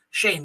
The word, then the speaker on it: Shane: Yes, I said it right this time. Shane, not Steven. Shane. Obviously, you mentioned the real one will be in action.